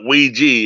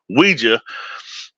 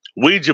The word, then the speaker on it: Ouija: Ouija I'm I'm G pronounce it the way it needs to be pronounced not Ouiji it's Ouija Ouija board you know it's